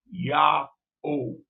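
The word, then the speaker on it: Ya'oh: His name is spelled Y-A apostrophe O-H. It's the pronunciation. It's a sound that is important. Yah-O.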